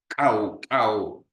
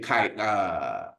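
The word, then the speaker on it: Khoi: sister once told me, when you pronounce, you have to say cow. Yeah, so you gotta pardon me still. I know we usually say koi.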